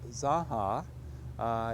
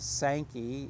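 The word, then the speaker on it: Zanja: The significance of the Zaha, if you're a highfalutin college and you're pronouncing it in the Spanish versus the Sankey, is that it's an irrigation ditch, and it's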